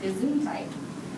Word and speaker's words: Gesundheit: Gesundheit. That is a funny-looking word, which is pronounced Gesundheit.